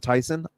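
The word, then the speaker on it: Thiessen: Tiffany Amber theas again everyone pronounces it Theos but I believe she pronounces it Tyson either way I think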